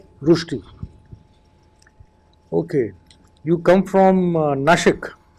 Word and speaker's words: Nashik: It was previously pronounced as Nasik. Yes. Why was the name changed to Nashik? So it was changed to Nashik because it is a more authentic Marathi pronunciation of the word, and the term Nasik